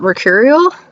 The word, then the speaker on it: mercurial: I don't know how to pronounce that. Mercurial?